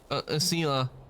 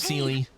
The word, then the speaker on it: Seela: Seela. That's how it's pronounced. I was thinking it was Seely.